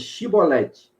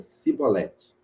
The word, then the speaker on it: chibolete: diziam então lhe diziam dizem pois chibolete porém ele dizia se Valete porque não podia pronunciar assim bem então pegaram dele pegavam